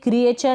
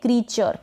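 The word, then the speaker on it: creature: फिर ये क्रिएचर ना पढ़ें, इसको पढ़ें क्रीचर, क्रीचर।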